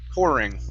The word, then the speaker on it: pouring: the word poring okay give me a good r instead of ping it's por pouring pouring mhm okay um next